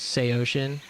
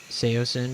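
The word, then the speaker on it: Saosin: How Anthony Green was the one that was insistent that the correct pronunciation was Seoshin, but then over time people were just pronouncing it Seosin because that's how it looks.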